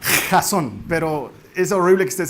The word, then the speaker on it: Jazon: si así se pronuncia razón hay gente que se cree que se pronuncia jason no se pronuncia razón de hecho en realidad se pronuncia razón pero es horrible que